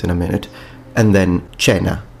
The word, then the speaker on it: cena: a minute, and then cena, or koina, if you want to use classical pronunciation with detached diphthongs, which would be dinner.